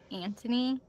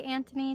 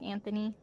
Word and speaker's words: Anthony: audio book they say Anthony and in the show they say Anthony. So, I think the H is supposed to be silent.